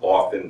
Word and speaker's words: often: the correct pronunciation is often the T is silent look that up on